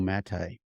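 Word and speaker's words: Maté: and it's the myth of normal by gabo mate of normal by gabo mate m-a-t-a-b-o-r and then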